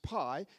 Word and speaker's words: pi: play going on that this Greek letter that's pronounced Pi just happens to be a homonym with an English pastry that's called pie and that also is